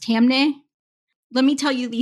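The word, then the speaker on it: Taamneh: one of them is Gonzalez V Google the other is twitterv uh I believe it's pronounced tamne let me tell you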